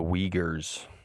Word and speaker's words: Uyghur: Yeah, the Uyghurs. Yeah, I've been hearing about that. It's deep. Thank you. Is that how you pronounce it, Nick?